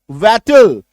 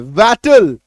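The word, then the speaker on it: wattle: Next देखो, WAT, इसमें टीएलई जोड़ा, वैटल। क्या निकल के आ रहा है? वैटल। उच्चारण क्या होगा? जोर से बोलना है, वैटल, वैटल। थोड़ा जोर डाल के बोलेंगे, है ना? क्यों? क्योंकि ए का शॉर्ट साउंड है, और ए का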